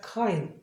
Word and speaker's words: kind: 그러니까 절대 끝에 있는 D 발음을 하는 게 아니에요. kind가 아니라 kind.